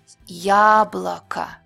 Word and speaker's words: яблоко: Ya is clear and long when it's stressed. Яблоко.